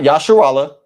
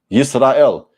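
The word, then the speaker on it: ישראל: In Hebrew, Yisrael, not Yasharallah, Yisrael.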